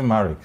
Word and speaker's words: Marricke: was concerned about your name how is it pronounced in like the makeover it's actually married so just america that's married and then coffee